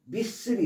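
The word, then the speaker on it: missile: 미스가 보내다라는 샌드의 개념에서 미슬이 있습니다. 미슬 미사일이라고 발음하지 않고 미슬.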